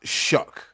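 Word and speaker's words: Shough: It looked like shuff or shook or and you know, but it's pronounced shook.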